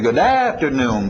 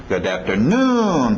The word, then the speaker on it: good afternoon: A tendência vocês vão querer dizer good afternoon, param papam. Não, é good afternoon, papapá, e batendo lá no finalzinho.